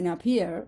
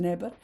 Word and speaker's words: Napier: que en realidad, bueno, se escribe Neper, pero se le dice Napier o algo así, no se le dice Neper.